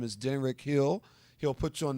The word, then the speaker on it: Denrick: His first name is spelled D like David, ENRYC. In fact, he's in the studio with me tonight. Yes. He's my administrative assistant. Denrick.